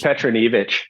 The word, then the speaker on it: Petronijevic: Like, for example, Dan I'm going to get his name wrong. Petronijevic. It's Petronijevic.